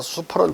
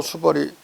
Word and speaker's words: 수벌: 따라서 수펄은 틀리고 수벌이 맞는 것이다.